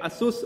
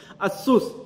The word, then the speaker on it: Asus: in computer Tex Fair Asus or SS however you want to pronounce in Hong Kong we pronounce as Asus in US you pronounce SS in Hong Kong we say Asus basically I would say